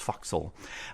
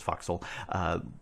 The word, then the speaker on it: forecastle: the for structure here this forecastle or sometimes pronounced foxhole well I almost always pronounce foxhole that you didn't need